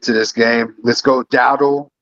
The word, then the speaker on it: Dowdle: Let's go, Dowdle. I think that's how you say his name, right? Dowdle.